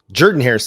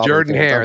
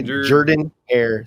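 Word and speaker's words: Jordan-Hare: into Jordan Harris Stadium Jordan Harris Stadium Whi a bunch over all of my different pronunciations of it and I apologize Jord hair that's it I'm working on it okay Jordan hair Stadium you heard um that's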